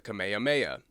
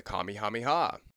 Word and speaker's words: Kamehameha: Toriyama's original pronunciation of this was the Kamehameha. But over time, he turned it into the Kami Hameiha because that's how Goku said it as he would slowly go kamame ham ha.